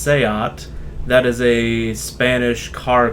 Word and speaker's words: SEAT: And then Seat is actually pronounced Seat.